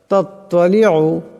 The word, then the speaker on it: تطلع: তাত্তালিউ, এখানে তো আছে, আওয়াজটা মোটা করিয়া পড়তে হবে।